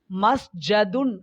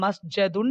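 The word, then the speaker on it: مسجد: அது ஷத் ஆகவோ அல்லது விதிவிலக்காகவோ, அல்லது வழக்கமான வடிவமாகவோ இருந்திருந்தால், அது மஸ்ஜதுன் ஆக வந்திருக்க வேண்டும் . ஆனால் அதை மஸ்ஜதுன் என்று உச்சரிக்கக் கூடாது. அது மஸ்ஜிதுன்; எனவே , சஜாதா, யஸ்ஜுது, மஸ்ஜிதுன் (ஒரு சிரம் பணிந்த இடம்).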